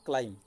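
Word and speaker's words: climb: प्रथम शब्द है क्लाइम। क्लाइम रे कौन हो पिला माने आम उच्चारण कला बेले केवल क्लाइम उच्चारण करूँ, बी आउ आसुना।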